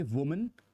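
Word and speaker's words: women: Pronunciation अलग रहता है, इसको बोलोगे वुमन, इसको कहोगे विमेन, ध्यान रखिएगा।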